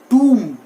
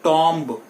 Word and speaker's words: tomb: Concept एक हमने अभी पढ़ा था कि M के बाद लास्ट में जब भी B आता है तो वो B क्या हो जाता है? अरे क्या बात है, साइलेंट हो जाता है. Very good. So TOMB इज टूम. इट इज नॉट टॉम्ब. हम इसको टॉम्ब बोलते आए हैं, but that is नॉट टॉम्ब, इट इज टूम.